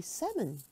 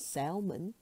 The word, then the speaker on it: salmon: not children but children the L in salmon is silent so you say seven not Salman but seven receipt receipt